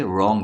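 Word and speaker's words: wrong: रंग तो डब्लू है डब्लू का साउंड वा होता है तो यह साइलेंट हो गया है क्योंकि हम इसे रंग पढ़ रहे हैं इस वाले एग्जांपल में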